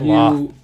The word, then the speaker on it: Lolth: Lolth. I always say her name fucking weird. Just say it Loth, like moth.